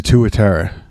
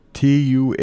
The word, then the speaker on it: tuatara: lizard it's it's its own category it's a tuatara it's in its own little branch of evolution